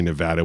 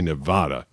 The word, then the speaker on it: Nevada: and they were like we do not say Nevada we say Nevada so I had to recut a whole series of promos because I said it wrong did you know that